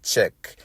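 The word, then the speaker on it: CHEC: Thomas at the compound of Czech, C-H-E-C, it is pronounced, in Hurdley, Golden Grove, that is in St.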